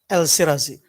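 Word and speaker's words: El Shirazy: More strikingly, Al Shirzi, how do you pronounce? El Sirazi.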